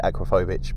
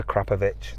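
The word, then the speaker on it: Akrapovič: a standard a crapovic I usually say acrophobic but they get upset if you say that it is a krapovic that's how you say it but you know I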